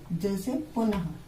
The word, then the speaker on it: पुनः: अब इसमें कैसे है कि इसका उच्चारण जो है वो स्वर के साथ हा के समान होता है। हा के समान होता है। जैसे पुनः, अब ये लिखा और